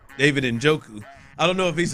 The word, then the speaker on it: Njoku: know if he's up there with the David Ujoka. David Njoku. I don't know if he's up What there. are you saying? I had to talk myself into. How do you say David's last name again? Njoku.